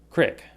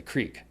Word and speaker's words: creek: And when I do that, when I say that, I say crick. But during normal conversation, I always say creek. And I think creek is more common.